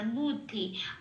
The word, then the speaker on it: বুদ্ধি: এখানে বয়ের পেটটা কাটা বলে এই বটায় কোনো ওয়া বলে উচ্চারণ হবে না, বাংলা বয়ের মতোই উচ্চারিত হবে বুধ।